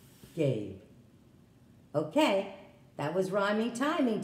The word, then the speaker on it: Gabe: So how can I make this A an A sound with a silent E at the end? And that's the name Gabe.